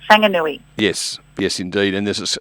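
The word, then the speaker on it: Whanganui: So, um, obviously Wang and I' I've had to learn pretty quickly that anything starting with a wh is a fang. Fanganui.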